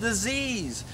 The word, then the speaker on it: disease: pronounced the wrong way it's dis ease dis ease not at ease something is wrong it's